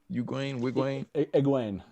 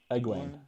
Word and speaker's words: Egwene: How do you say it again? Wigwayne? Egwene.